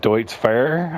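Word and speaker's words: Deutz-Fahr: Now, forgive my mispronunciation. Deutz Fair, I think is how it's pronounced.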